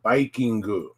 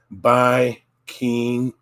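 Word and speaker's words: バイキング: Now the next one, this was really funny too, and the next one is pronounced Bikingu. Bikingu. Bikingu, from the word Viking with the horns.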